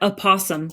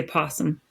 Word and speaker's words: opossum: Although I guess, you pronounce that opossum, but nobody does. They always say possum.